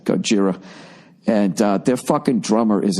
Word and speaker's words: Gojira: I'm really getting into that band fucking, Gojira? I hope I'm saying it right. It's Godzilla, but that name was taken, so they just wrote it how someone would say it with an Asian accent, Gojira.